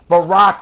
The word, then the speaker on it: Barack: And besides, Barack rhymes with Iraq. Not quite, Gary.